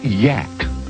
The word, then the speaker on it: Yak: Actually, the creature's name is pronounced Yak.